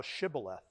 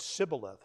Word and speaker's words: Shibboleth: If he said, nay, then said they unto him, say now Shibboleth. And he said, Sibboleth, for he could not frame to pronounce it right.